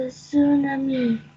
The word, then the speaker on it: tsunami: one this is the tunami tunami T is not pronounced here just tsunami say very